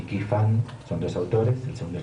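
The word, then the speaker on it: Ky Fan: texto de 1946, que es el de Frechet, se escribe Frechet y Qi-Fan, son dos autores, el segundo chino, Qi-Fan, K-Y-F-A-N, separados, Frechet y Qi-Fan.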